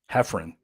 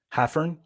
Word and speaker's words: Haffern: but anyways uh this guy mr mr robin hefrin i believe is how you pronounce his last name is that right hephrin